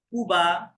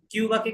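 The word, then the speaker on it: Cuba: যেমন যেমন দেখেন, এই যে দেখেন, এটা কুবা, সিঙ্গাপুর, নামগুলো শুনে নেন যাতে মনে থাকে। কিউবাকে কি বলবো? কিউবা বলা যাবে না, কুবা। কি হবে? কুবা। কুবা। হ্যাঁ, কুবা।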